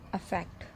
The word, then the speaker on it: affect: तो सबसे पहले हम लेते हैं वर्ड अफेक्ट. जैसा कि इसको प्रोनाउंस करना है, तो इसको अगर अब हम प्रोनाउंस करेंगे तो हमारे मुंह से अ शब्द यूज़ होना चाहिए.